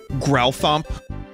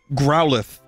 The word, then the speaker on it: Growlithe: this show was fun it's a Growlithe oh it's not like a growl Thump A super-sized knife for